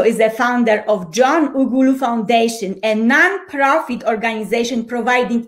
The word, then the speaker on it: Ughulu: things that he does his name is john ugulu did i pronounce it well absolutely you know welcome thank